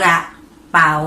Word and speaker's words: กระเป๋า: ที่ 1 นั่น เอง กระเป๋า สะกด ว่า กอ รอ อะ กระ ปอ เอา เปา เปา จัตวา เป๋า อ่าน ว่า กระเป๋า นั่น เอง รับ มา ดู